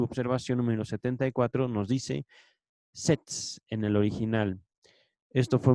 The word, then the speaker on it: Stets: La palabra en alemán que se menciona aquí se escribe S-T-E-T-S, Stets.